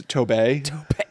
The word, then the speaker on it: Tobe: hooper okay uh because it's spelled t-o-b-e tobe i was like i think it's toby but it's tobay it is spelled like tote bag it is um but